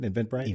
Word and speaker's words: Eventbrite: There's also an Eventbrite. That's how you say it? Eventbrite?